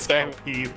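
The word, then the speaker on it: Cao Pi: no, they actually pronounce it as Cao Pei.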